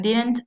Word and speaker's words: didn't: Mucho cuidado a la hora de pronunciar didn't, ¿sí? Ya que no tenemos que pronunciarlo de manera interdental, ¿sí? Al pronunciar didn't, la lengua no sale de entre los labios, sino que la mantenemos detrás de los dientes.